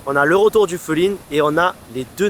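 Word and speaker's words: 風鈴: Attention à bien le prononcer Fulin parce que sinon ça veut dire adultère en japonais.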